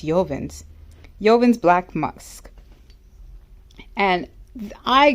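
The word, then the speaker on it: Jovan: is a new cheapy this is yoven I believe it's pronounced yoven Yen's black musk and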